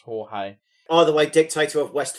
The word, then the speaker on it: Jorge: There was also another Argentinian dictator that I thought was called Georgie, and it was actually pronounced Jorge.